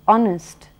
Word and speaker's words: honest: o n e s where the H is not pronounced and it is honest then you have a